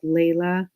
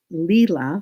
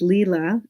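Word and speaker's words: Leila: they're late okay so her name is actually pronounced lila yes she's had a long e over it it's leela and her last name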